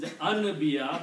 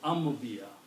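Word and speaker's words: أنبياء: Anywhere where ba and noon come in this combination, the ba will have effect on the noon. Ambiya. Ambiya, another word, Ambiya. He says Anbiya, but you pronounce Ambiya, plural of Nabi.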